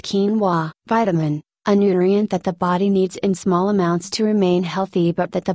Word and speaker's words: quinoa: Quinoa, a high-protein grain native to South America, pronounced quinoa.